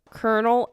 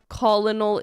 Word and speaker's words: colonel: bro why do they can someone please explain to me why colonal is colonel because like I don't